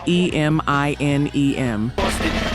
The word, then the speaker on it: Eminem: kept the sound exactly the same, the phonetic pronunciation of those two letters, but wrote it out as e m i n e m.